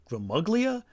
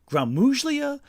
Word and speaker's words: Gmuglia: Anthony is easy but Gulia whether it's pronounced Gmuglia Guzlia or Grammagulia the name simply proves too Italian to pronounce and the second G too loud to keep silent. That's a silent G for the most part.